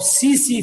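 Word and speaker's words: tsetse: सोमा यह saliva of सी सी फ्लाई य T silent है सी य सी सी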